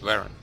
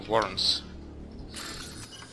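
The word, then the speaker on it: varren: правильно говорить, Warren. Я думал, Warrens. На английский манер.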